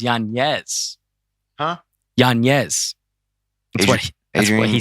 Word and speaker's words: Yanez: And I'm sorry, how to pronounce his name is Yanez.